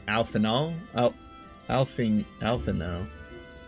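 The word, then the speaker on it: Alphinaud: they are out see it's not alphanod it's alphanull oh alphing alpha now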